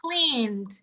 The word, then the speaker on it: cleaned: the edst first yeah so here clean is voiced so it needs a voiced friend or a voiced neighbor that's why we will pronounce the idi as yes cleaned very good and this